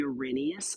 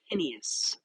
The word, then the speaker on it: Arrhenius: Finally, we have something called the Arrhenius equation or Arrhenius. I've heard it pronounced both ways.